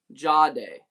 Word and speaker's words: Jahdae: You'd say it like Ja, J-U-H, Day, like D-A-Y. It's Ja. Jahdae.